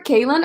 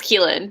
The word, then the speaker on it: Keylin: Okay, do you prefer Kaylin or Keylin? It's Keylin, yeah.